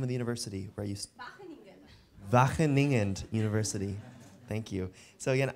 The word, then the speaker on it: Wageningen: scientist and associate researcher at, how do you pronounce the name of the university? Where you Wageningen University.